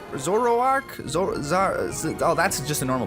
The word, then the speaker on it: Zoroark: that literally carried me the whole way through azorok Zoroark oh that's just a normal Pokemon how could I mispronounce that a Toxicroak and a manectric and